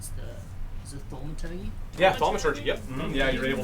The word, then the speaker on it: thaumaturgy: I can't pronounce it though. Is it thaumaturgy? Yeah, thaumaturgy.